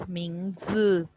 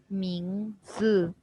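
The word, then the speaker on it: 名字: Yes, Huria, you were pronouncing this as Mingzi. Again, I repeat, it's not Mingzi, it's Mingzi. Mingzi.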